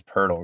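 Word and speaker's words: Poeltl: looks like yakob purle I think it's purle guys I think that's how you correctly pronounce it I could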